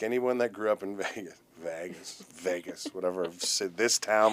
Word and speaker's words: Vegas: You say it like V A Y G- A S Vegas.